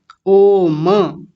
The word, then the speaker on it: ओम: तो अगर यहां हलंत नहीं होता ना तो पता है इसको क्या बोलते? ओम ऐसा बोलते।